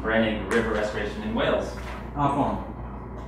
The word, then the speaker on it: Afon: Afon. Pronounced Avon.